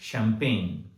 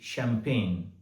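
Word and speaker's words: champagne: अगला शब्द ले सकते हैं शैंपेन। सी एच ए एम पी ए जी एन ई शैंपेन बड़ी विचित्र स्पेलिंग लगती है।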